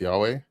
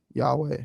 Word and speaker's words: Yahweh: So I think if we go with the Jewish pronunciation of letters currently where the vav is av sound then it would be yhovah. Um but if you pronounce the vav as a was sound then it would be yahweh.